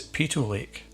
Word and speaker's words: Peyto Lake: is another stunning lake, and this one is Peyto Lake. It's often pronounced Peyto Lake, so please let me know in the comments below if I'm getting it right, but I believe the correct pronunciation is Peyto Lake.